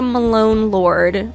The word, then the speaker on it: Malone Lord: So, my name's Malone Lord. My joke is always it's Post Malone and then Lord Jesus Christ.